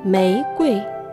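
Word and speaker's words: 玫瑰: Y el primer carácter, Mei, con tono ascendente. Mei. Mei. Y Gui, tono neutral. Gui. Gui. Mei Gui. Mei Gui.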